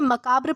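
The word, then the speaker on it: macabre: दोस्तों, इसे मकाब्र प्रोनाउंस किया जाता है।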